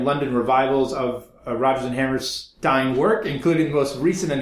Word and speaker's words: Hammerstein: okay no but ville Hammerstein said to me like Steinway pianos Hammerstein so that's the thing to